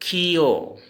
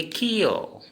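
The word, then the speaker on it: ক্ষ: छिय, जिस छिय होता है हिंदी में छिय, हम असमिया में इसको खियो। क्या बोलेंगे? खियो। इसका उच्चारण खियो लिखेंगे, खियो।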